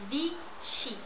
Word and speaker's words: Vichy: Just say it phonetically like I say it. All right, let's start. Yves Saint Laurent. Vichy.